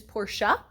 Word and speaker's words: Porsche: of porsche enthusiasts and yes i know the proper pronunciation is portia but i'm born and raised in south texas we say things a little different around here and i've been saying poor since i was eight